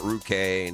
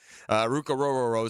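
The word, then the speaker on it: Ruke Orhorhoro: Not Ruke, not Rukiki, not in the last night.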